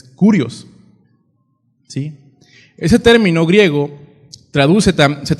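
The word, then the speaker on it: κύριος: Se escribe, creo que ya lo hemos escuchado los que tienen años en el Evangelio, escribe K-Y-R-I-O-S. Se dice Kyrios, ¿no? Pero pues no sabemos hablar griego, ¿no? Pero la pronunciación es Kurios, ¿sí?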